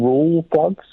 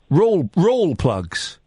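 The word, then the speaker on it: Rawlplug: But the reason why I pulled back up is you keep saying rule plugs. Raw plugs. Yeah. The L I'm pretty sure the L is silent. I'm pretty sure it's just raw plugs.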